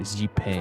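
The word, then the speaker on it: Xipe: Maybe it's Shipei the Harmony Pool. I forgot that's how you say it. Shipei.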